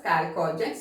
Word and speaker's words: chalcogens: Chalcogens, okay. Some of them they will pronounce it as chalcogens, anyway you can pronounce, okay.